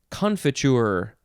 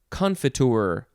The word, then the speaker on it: confiture: etymology context next is confiture or confiture or confiture it is a noun